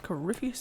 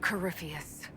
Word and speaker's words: Corypheus: Time to poke Corypheus in the eye.